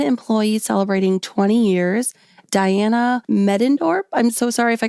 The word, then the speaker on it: Medendorp: Diana Medendorp. I'm so sorry if I got your name wrong.